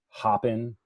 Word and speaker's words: Hopin: - is their domain although it's spelled like hope in I tried telling them that they shouldn't call it hop and they should call it hoping because that's the way they spelled it but um and